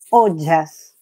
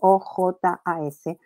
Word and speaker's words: ojas: se describe en la Ayurveda que se llama ojas, que se escribe O-J-A-S, ojas, es como lo que sería para nuestra comprensión, las defensas.